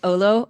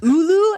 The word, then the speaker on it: olo: So that color was OLO. I actually don't think that's how it's pronounced, but I I'm going to call it olo. It's ulu, actually.